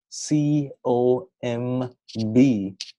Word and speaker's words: comb: in the sense that if you have a word like c o m b well in English language you don't pronounce it as comb. The B here is silent.